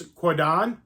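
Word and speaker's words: Kwaidan: you pronounced like this I think it's quadan I think is how you pronounce it and this is an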